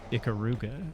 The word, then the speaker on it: Ikaruga: I guess it's pronounced Ikaruga, but here in America, we would call it Ikaruga, I think.